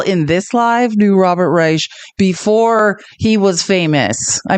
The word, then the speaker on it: Reich: we spent three months thinking his name was Robert Reich and thinking that was really awkward cuz he's Jewish and then we debated it for three more months and then realized, oh, it's not pronounced that way.